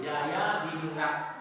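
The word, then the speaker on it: Djajadiningrat: Kenapa ditulis dijajah? Karena dijajah itu adalah ejaan lah. Nah, jadi kalau DJ itu sekarang dibaca Y, Jaya di Ningrat.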